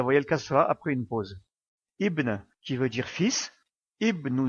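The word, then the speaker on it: ابن: On prononce bien la voyelle kasra puisque aliful wasl, alif de liaison, est en début de phrase.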